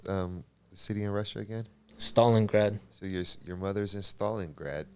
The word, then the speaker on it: Stalingrad: your mother is in and how do you pronounce um city in Russia again Stalingrad so your mother's in Stalingrad yeah in 1989